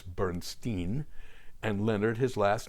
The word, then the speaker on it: Bernstein: Bernstein was known as Bernstein West because he was in Hollywood in Los Angeles they pronounced their names differently as well Elmer pronounced his last name as Bernstein and Leonard his last